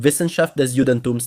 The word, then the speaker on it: Wissenschaft des Judentums: This is from Schleiermacher, who wrote a science developed in Germany called Wissenschaft des Judentums, that's how you say it in German, which is called the Sciences of Judaism.